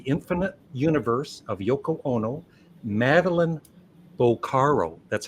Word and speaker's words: Madeline Bocaro: this book The Infinite Universe of Yoko Ono meline boaro that's how you pronounce it right I did it right thank